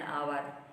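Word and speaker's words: hour: यदि कोई words H से प्रारंभ हो किंतु उसका उच्चारण कंसोनेंट की तरह नहीं होकर भावेल की तरह हो तो उसके पहले एन का प्रयोग किया जाता है, जैसे एन आवर, N honourable man, an honest man, इस तरह से।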